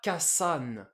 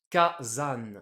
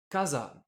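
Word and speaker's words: 火山: Ka plus san. Le volcan ne se prononcera pas kasan. C'est pas facile à prononcer. Du coup, on a cette règle de l'accent. Ah, ça? Le premier kana du second kanji, le sa, va prendre un accent. Ici, le dakuten, ce qui nous donne kazan, ce qui est beaucoup plus facile à prononcer Ah bon? pour les japonais. Du coup, le mot Ok. volcan se dit kazan.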